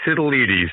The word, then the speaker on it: Sitildes: So, I mean, we have, is it SITILDES? Or how do you pronounce your last name? I messed it up last time. It's very close, Todd. It's SITILDES, a proud Greek name. Got it. SITILDES.